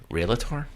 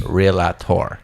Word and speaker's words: REALTOR: Is it spelled like real tour? Yes. Okay. It's REALTOR. Why? So the word is realtor. And maybe my Long Island accent is coming through, and that OR is becoming an ER.